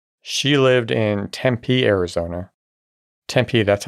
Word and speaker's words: Tempe: Tempee, that's how you say it, right?